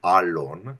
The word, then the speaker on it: Alon: name so the the the appropriate terminology of how to pronounce it is Alon it's an El long a but hey I go